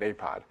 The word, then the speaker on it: APOD: Astronomy Picture of the Day is abbreviated APOD and pronounced APOD.